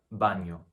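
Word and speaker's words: baño: the squiggly above it this is pronounced just like in the spanish loan word pinata so other examples are banyo or espanol last comment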